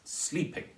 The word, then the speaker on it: sleeping: it that for example the word sleeping is stressed on the first syllable it's sleeping not sleeping and so